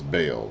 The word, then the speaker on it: Baal: pages to come is bale or ball how you pronounce it b-a-a-l-b-a-a-l and baal was one